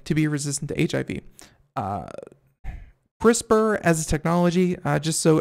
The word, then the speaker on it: CRISPR: very good thing to be resistant to HIV CRISPR as a technology just so everyone isn't you